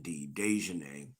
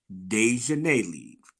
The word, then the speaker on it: Daejhanae: Now, I'm also interested in why they singled out Daejhanae, I keep saying Daejhanae. Um, Not gonna call her Deion Sanders, like shout out to lead attorney. Not gonna do that. Daejhanae listen to me.